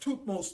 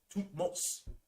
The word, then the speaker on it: Thutmose: It's spelled A-M-E-N-H-O-T-E-P. Amenhotep. All right. He was a pharaoh after Ammuz. Then you had Thutmose the first. This is where Moses' name came from. Thutmose.